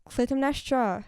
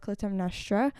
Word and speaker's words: Clytemnestra: This is, praying that I say it correctly, Clytemnestra.